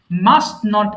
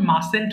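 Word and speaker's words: mustn't: form বলে দিচ্ছি একটু মাস্ট নট কে আমরা যখন বলবো তখন মাস্টেন্ট বলবেন না কষ্ট করে তখন এটি এর ব্যবহার দরকার নাই নেই তখন মাসেন্ট হয়ে যাবে টি টা তখন সাইলেন্ট হয়ে যাবে আই মাস্ট এন্ড রাইট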